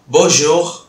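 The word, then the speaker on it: bonjour: அதுதான் போஷோ போஷோ போஷோ போஷோ அப்படின்னு சொல்லுவோம்.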